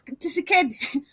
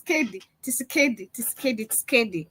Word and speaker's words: Tshisekedi: Paul, it's Tshisekedi. Paul Tshisekedi. It's the way she pronounces it. It's Tshisekedi.